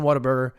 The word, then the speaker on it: Whataburger: It's not Watt, like Watt's riot or the wattage on that light bulb. It's what? Like, what a great burger.